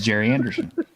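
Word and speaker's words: Gerry Anderson: The one time you can say Jerry when it's spelled that way. Is Jerry Anderson.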